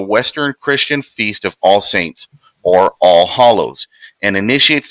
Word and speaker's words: Samhain: Sa'in. Saw in. It's Samhain. Looks like Sam Hain, but it's pronounced Sa'in.